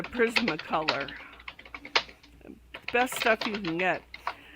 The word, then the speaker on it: Prismacolor: the calculators go oh prison mccullar oh I said it wrong I'm sorry Frank this is a critter that Frank loves so I always have an eye out for it it's a prismacolor best stuff you can